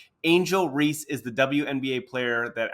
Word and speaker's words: Angel Reese: podcast with that said you're mad because I called Angela ree instead of Angel Reese her real name first of all she doesn't even deserve for me to cover to say her name the right way because she's not a